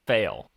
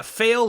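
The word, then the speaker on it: Faile: pronunciations for such names how do you say that name fail yeah fail is the sarcastic way some people just want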